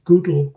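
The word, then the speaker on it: GDAL: Below the line are, in particular, the Google, I call it Google because that was the way Frank Warmadan pronounced it in Lausanne, explaining that Google is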